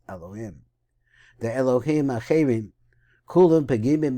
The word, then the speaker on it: Elohim: The Elokim Acherim, because actually I'm told that we're talking about idolatry, you always pronounce this Elohim.